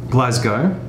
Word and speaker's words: Glasgow: Glasgow.